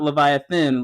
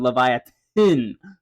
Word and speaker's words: Livyatan: Leviathan yes I understand not Leviathan Leviathan there's a difference look I get a ton of comments like you're pronouncing Leviathan wrong so yeah Leviathan is in reference to the mythical monster Leviathan it's just a Hebrew spelling it was actually initially